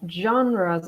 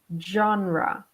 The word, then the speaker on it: genre: So as you can see, the topic of this slide, this word can be a little bit hard to pronounce because the origin is French. So this is pronounced genre.